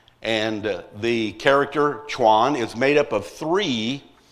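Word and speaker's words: 船: It's pronounced chuan. And the character chuan is made up of three separate characters and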